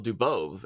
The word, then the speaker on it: Dubov: for a long time I said uh dubove for dubov uhhuh and and I